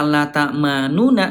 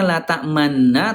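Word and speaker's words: لَا تَأْمَنَّا: Jadi, Bunda asal kalimatnya launa tapi tidak dibaca la takmanuna. Dibacanya la tak tamanna tapi ada monyong.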